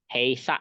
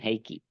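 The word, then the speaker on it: 閉鎖: Heisa itu bukan heiki. Heisa. Ya, karena dia mirip ya, mirip apa? Kayaki ya, tapi dia sa itu cara bacanya sa ya.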